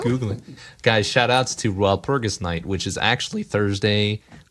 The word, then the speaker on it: Walpurgis: Hey, It's a dumb German name that it's Walpurgis.